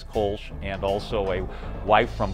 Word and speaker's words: Kölsch: Is that how the Kolsch came to be? Yeah, absolutely. We had started brewing the Kölsch, which is how they pronounce it there with the umlaut, and then we knew